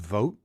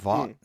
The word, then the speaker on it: Vought: I just learned it's pronounced vote, not VA.